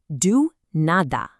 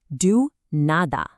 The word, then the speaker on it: do nada: Do you see those capital letters in na? Well, that is your visual cue to hit the gas pedal and put the weight on that specific syllable. It's what gives the phrase its natural bounce. I'll say it and then you repeat. Here we go. Do nada. I want you to really lean into that na.